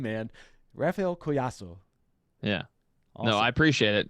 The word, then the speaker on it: Collazo: how's it going yeah my last name's koiaso so in in Spanish uh the Double L is a ya sound so that's how you say it yeah oh awesome that's